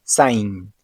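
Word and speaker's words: Zayin: La séptima letra del alfabeto hebreo es Zain y se pronuncia como una Z.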